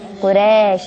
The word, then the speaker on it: قریش: مکۃ المکرمہ رضی اللہ تعالی عنہ، قبیلہ شریف نہیں، قبیلہ قریش.